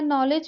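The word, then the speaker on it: knowledge: नॉलेज में K और D silent है।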